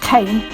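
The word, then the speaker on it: Caen: what you're seeing the kane hill locks are a flight of 29 knocks on the kennet and avon canal near devises in wiltshire it's pronounced kane but spelt c-a-e-n all together the 29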